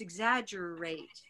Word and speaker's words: exaggerated: why is it exaggerated because it has secondary stress and so it's not a schwa yes exaggerated I'm going